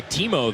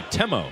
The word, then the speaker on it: Temo: and he went by Timo there. And he told the Texas staff when he arrived that he wanted to go by Temo, different pronunciation.